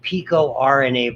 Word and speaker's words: picorna: category, and they're called pico-RNA viruses. We sometimes call them picorna when you pronounce it all as one word.